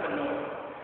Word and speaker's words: Faneuil: Either of those pronunciations, you commonly hear Faneuil or Daniel. That's what I say. A lot of folks say Faneuil, or I'm saying Panel. Originally, it's really something like Faneuil.